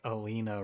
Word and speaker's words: Alina: to be saying it it might be like elena but i feel like alina rhymes with arena so that's how i'm